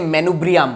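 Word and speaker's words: manubrium: अब देखो ये जो ऊपर का पोर्शन है, इसको बोलते हैं मेनुब्रियम। क्या बोलते बताओ, प्रोनाउंस करो रे बच्चों, MENUBRIUM है, 5 बार प्रोनाउंस करो रे, मेनुब्रियम।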